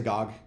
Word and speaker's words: GOG: Do people say GOG or good old games? Like, how do you actually pronounce when you're saying that? You just say GOG.